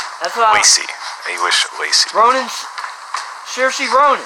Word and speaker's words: Saoirse: Ronan's Saoirse Ronan. 5. Saoirse Ronan. We will accept that. Yeah, I believe it's Saoirse, but her name's hard to pronounce.